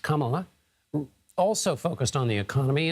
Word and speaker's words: Kamala: a victim of it vice president kamla Harris pronounced Kamala also focused on the economy in her rally